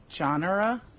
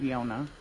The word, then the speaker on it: Yona: I think you pronounce her name Genre. Genre. I remember I did a camp for the top five. She's in my Adam Katz group. Oh, right. Actually, her name is pronounced Yona.